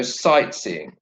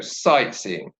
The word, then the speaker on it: sightseeing: Okay, so in this go sightseeing, the word sight takes the stress. So it's go sightseeing. Go sightseeing.